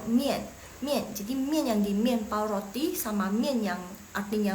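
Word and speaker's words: 面包: Yang belakang itu bacanya pao. Mien sama aja. Jadi mien itu mie sama mien pao de mien pao.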